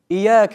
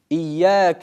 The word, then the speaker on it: إياك: Некоторые ошибаются в этом аяте, оставляя удвоение в слове. إياك نعبد وإياك نستعين. Это неправильно. Другие читают каф в слове «ияка» с сукуном. إياك نعبد وإياك نستعين. Это неверно. Правильно же читать так.